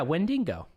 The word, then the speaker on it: Wendigo: Zinka's right, it's pronounced the second way you said it. Yeah, Wendigo.